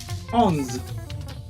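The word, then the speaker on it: onze: I said 10 is this this 11 is ons on yes you got me right 12 12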